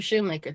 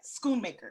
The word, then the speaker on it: Schoonmaker: Yeah, Heather Shoemaker. Thank you. Yeah, Schoonmaker. Yes. Schoonmaker. Yes. Oh, it's a hard C.